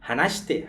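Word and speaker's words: 話して: E vejam que a gente fala, quase não pronuncia o shi direito, né? Vai falar hanashite, hanashite, hanashite. Fica só o shi quase, né?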